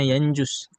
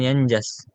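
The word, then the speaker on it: ينجس: wulirak nah alq yanjus bacanya yanjus bukan yanjas Yanus atau yunjis enggak kalau yunjis itu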